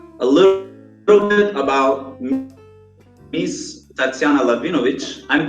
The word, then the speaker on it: Tatsiana Lahvinovich: So guys, a little bit about Miss Tatsiana Lahvinovich. I'm pronouncing it correctly, yes?